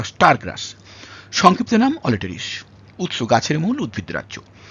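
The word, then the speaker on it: Aletris: আর আই এস ইংরেজিতে বাংলায় আমি করেছি অলিটারিস কোন কোন জায়গায় অল্টারিস বা অলট্রিস এরকম ভাবে বলা আছে মনে রাখবেন ব্যাপারটা একই উচ্চারণ ইংরেজির উচ্চারণ বাংলায় করতে গেলে একটু অল্টার করে যেতেই পারে আমরা ধরে ধরে যেটা করেছি এটা হচ্ছে অলিটারিস অলেস এটাকে কোন জায়গায়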